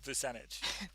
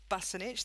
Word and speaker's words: Visanic: Visanic. Percentage. Close enough. As long as it's not Busanich, that's fine.